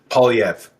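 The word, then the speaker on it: Poilievre: for the longest time I've been corrected numerous occasions POV so he goes by Pierre POV French name that's not the proper French pronunciation of that name but he says everyone calls him POV so just so we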